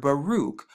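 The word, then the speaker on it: ברוך: the cop right here and when you place all four of them together you get the word baruch baruch baruch but if you take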